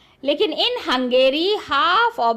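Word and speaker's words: Hungary: बताओगे Italian got इट हंग्री sorry it's नॉट हंग्री इट इज हंगेरी ठीक है आई एम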